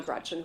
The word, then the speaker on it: Gretch: named after my grandma Gretchen who I adore. It's funny though because she always said, "Never let anyone shorten your name. Don't let people call you Gretch because it rhymes with wretch."